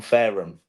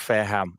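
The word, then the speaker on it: Fareham: actually closer to you than you think I'm farum so I know you are oh big it's pronounced it's pronounced fairham okay um with with with Mikey's mispronunciation aside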